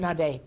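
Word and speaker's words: Naudé: And one of them is Byers, and I'm going to butcher the last name, but is it Naughty? Nade. Bears Nade, he pronounced Would it.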